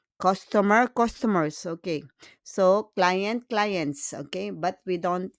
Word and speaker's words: clients: And then for plural, we just add S with client and cliente, but we don't pronounce le S. It's silent. Silent means muet. C'est silencieux. On n'entend pas. We don't hear the S.